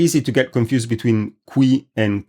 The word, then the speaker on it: qui: The relative pronoun is spelled with a C, and it is pronounced cui. I'll say the difference, I'll say both of them again for the difference. Qui, cui.